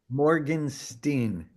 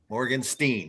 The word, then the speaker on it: Morgenstein: I know it looks like Stein, right? Yeah. If you go by the European pronunciation, that last vowel should go before the last consonant. Yeah. In like a German would say Morganstein.